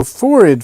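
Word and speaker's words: phorid: So forid flies, I believe it's spelled p h o r i d.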